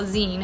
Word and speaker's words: zine: i even care well zine it's pronounced like the ending of a magazine it's to really share